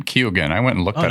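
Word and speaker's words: Keoghan: I guess he pronounces his name Kugan.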